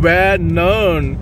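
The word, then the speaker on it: Vänern: जो है वो अभी मैं आपको बताता हूं वेनन वी ए एन आर ई एन वेनन इतना आसान नहीं है प्रोनाउंस करना और वहां क्रिस्टीना हाम भी है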